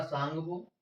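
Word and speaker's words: Tsangpo: ITS-Z का मतलब क्या होता है, आई का मतलब हो जाएगा तुम्हारा इंडस, और टी का मतलब हो जाएगा तुम्हारा सांगपो, इसमें टी साइलेंट रहती है, और एस का मतलब हो जाएगा आपका सचर, और जेड का मतलब हो जाएगा जोन।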